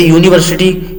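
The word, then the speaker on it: university: जैसे यूनिवर्सिटी यू से तो शुरू हो रहा है, लेकिन इसका जो उच्चारण है, इसका जो प्रोनाउंसिएशन है, आप उसको देखते ही यूनिवर्सिटी मतलब ये वॉवेल साउंड नहीं दे रहा है, ये कॉन्सोनेंट साउंड दे रहा है।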